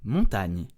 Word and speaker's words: montagne: So GN is n, like the ni in onion, okay? So never a hard G followed by an N. This is not montagne.